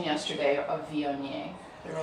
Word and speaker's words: Viognier: She went to the store to buy one, and they kept saying Vouv, Vouv, and she goes, no, Viognier, Viognier.